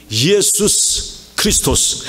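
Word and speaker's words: Ἰησοῦς Χριστός: 그래서 예수 그리스도는 예수스 크리스토스, 헬라 예수스 크리스토스, 우리 발음하고 비슷하죠. 예수 그리스도. 그러니까 Jesus Christ는 오히려 발음이 좀 빗나간 겁니다.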